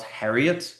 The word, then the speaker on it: Harriott: So, my last name is spelled Harriet, but it's pronounced like a Marriott.